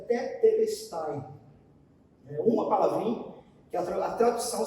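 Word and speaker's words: τετέλεσται: Mas palavra simples, chamada, pronunciada tetelestai.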